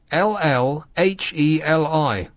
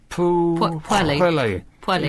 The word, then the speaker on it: Pwllheli: Oh, blimey, how'd you pronounce that? Here you go. You're so smart, try this. Pwllheli. Pwllheli. Is that right? Pwllheli? Pwllheli.